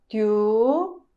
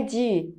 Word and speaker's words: 디: Tá, piá, tó, tió, tô, tiô, tu, tiu, ti, ti. Quando você vai ler essa sílaba, não é di, é ti. Ti.